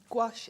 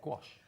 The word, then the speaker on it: gouache: of a debate actually I always say gash gach gouache I've watched loads of YouTube videos and I've decided gouache is the most common pronunciation but I don't think there is a right or a wrong way to be perfectly honest